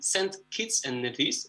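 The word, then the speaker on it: Saint Kitts and Nevis: He lives in St. Kitts and Nevis, if I'm pronouncing it correctly.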